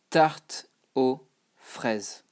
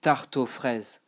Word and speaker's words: tarte aux fraises: But you know that you don't pronounce it, you don't pronounce the X, you don't pronounce the S. So it just becomes tarte aux fraises.